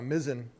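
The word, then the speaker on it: mizzen: one now sure uh I want to thank M Liza for pronouncing uh mizen correctly I'm 30 years retired Coast Guard it's m it's a nautical term like the mizen Mast of a ship so 30 years Coast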